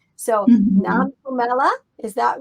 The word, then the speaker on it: Nompumelelo: know how to say it all right so manila is that right nam pumela is that right yeah you made it purple